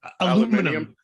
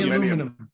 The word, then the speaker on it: aluminium: In England, they say words really weird, like aluminum. Yeah, How do you say aluminium. aluminum? Aluminium. Oh yeah, something like that.